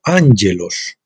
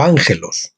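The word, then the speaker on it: ἄγγελος: palabra griega para Ángeles a hielos con dos ges a hielos pronunciado angelos o Ángelus la palabra hebrea es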